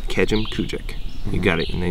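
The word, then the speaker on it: Kejimkujik: Start with Kejim and then finish with Kujik. So Kejim Kujik. It's pretty. It's you know, it's not Kejim Kujik.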